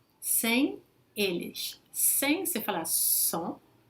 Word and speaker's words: sans: Novamente o S não se pronuncia se vem sozinho na frente de uma consoante, mas aí depois vem uma vogal. Então vou fazer a liaison com som Z. Il ne veut pas partir sans eux.